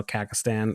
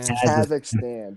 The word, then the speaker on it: Kazakhstan: But I just saw, because I was looking, I was like, I was like saying how Kakistan or whatever the fuck is how you say it. Kazakhstan.